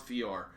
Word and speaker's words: Fjor: So it's pronounced Fjord.